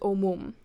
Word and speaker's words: omum: any infixes to them, the stress shifts to the first syllable. So not the first syllable of the complete word. So you see it's not the infix that's stressed here, but to the first syllable of the original verb.